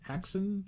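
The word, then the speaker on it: Häxan: a x a an haxon hex I think it's pronounced okay uh cuz it's a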